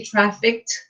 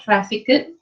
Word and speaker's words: trafficked: It's actually trafficked, not trafficked. Okay, so yeah, Oh, yeah, okay. yeah, you don't have to pronounce the ed at the back.